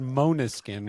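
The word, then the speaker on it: Måneskin: how is it pronounced monuskin when it's spelled mankin so so because it's actually Danish for moonlight oh I did not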